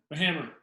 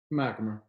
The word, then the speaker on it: MacHamer: I'm here with my man, MacHamer. MacHamer, but he's close. Is that how you say it? Yeah. The H is silent. It's capitalized, but it's silent.